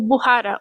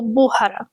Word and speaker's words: Buhara: Essa aqui é a Mente e esse aqui, gordão atrás dela, é o Buhara, ou Buhara, tanto faz a pronúncia que vocês quiserem falar.